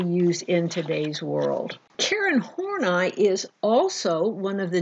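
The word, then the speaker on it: Horney: were entirely different with horn I and I know it's spelled horny but its horn I okay don't laugh too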